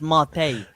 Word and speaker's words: mate: It's yerba mate. It's not yerba mate. It's pronounced mate.